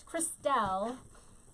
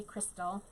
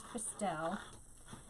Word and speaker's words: Christelle: most of the time it's christelle and most people say crystal um but it is cristel except for my mom